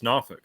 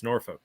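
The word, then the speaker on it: Norfolk: of like here in New Hampshire Concord they pronounce it conc oh yeah it's like if you were born here it's nauk but if you're from out of town it's norfol yep we kept that English pronunciation for some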